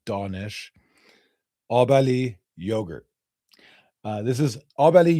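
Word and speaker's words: Abali: Um so, this right here, Obali. We pronounce our A's as ah, like Donish. Obali yogurt.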